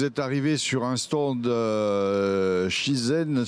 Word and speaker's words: Shizen: sur un stand Shizen, je ne sais pas si ça se prononce comme ça, où vous allez parler de management de la performance. À vous, Xavier. Et ça se prononce effectivement bien comme cela, Shizen.